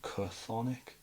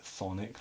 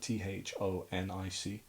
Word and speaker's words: Chthonic: Yeah, they're called Thonic, even though it's got a CH. People call them like Chthonic, but now you just pronounce it Thonic, like Thonic.